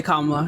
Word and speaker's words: Kamala: have been in presidency I said it's comma if you mispronounce your name again you're going back into the comments it's it's not hard comma is a word in